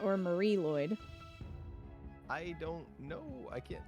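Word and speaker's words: Mari Lwyd: with a V yeah it's a Avari okay Avari Lloyd a Vari Lloyd okay uh and it looks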